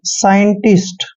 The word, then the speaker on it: scientist: एस सी, जब भी एस के बाद सी आता है तो सी वहां पर साइलेंट होता है।